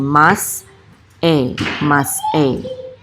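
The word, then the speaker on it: מסעי: We don't say say, we say mas e, okay? So mas e means journeys of, okay, it's plural.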